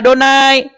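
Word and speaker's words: אדני: adonai di mana Iya Lord ini dibaca sama orang Ibrani bacanya adonai Mana ada orang Ibrani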